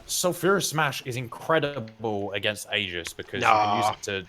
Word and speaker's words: aegis: shield blessed shield sorry crystal aegis or agis if you want to say it wrong and uh strafe so